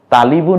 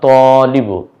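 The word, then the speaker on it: طالب: ত খাড়া জবর দেব, যদি আকার কিন্তু উচ্চারণ হবে তই, কারণ ওই ৮ অক্ষরের এক অক্ষর, লি, লামকে পেশ দিলাম লি, বকে রস্যু করে দেব বু, মিলে হবে কি তালিবু না তলিবু, তলিবু হবে ওস্তাদজি।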